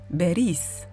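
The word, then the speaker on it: باريس: que soit leur place le S de Paris s'entend donc pas de confusion possible entre ces deux villes Paris se dira donc Beris en revanche il y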